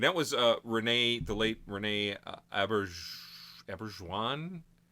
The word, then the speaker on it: Auberjonois: And that was the late Rene Auberjonois. I'm going to pronounce his name, Auberjonois. That's very French.